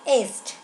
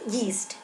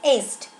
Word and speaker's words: Yeats: This is the pronunciation of Yeats, not yeast. Okay, it's Yeats.